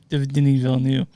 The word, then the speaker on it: Denis Villeneuve: Denis Villeneuve, is that how you pronounce that correctly? Denis Villeneuve.